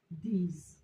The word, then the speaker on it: these: We'll now have the E, Z, the E, Z, these.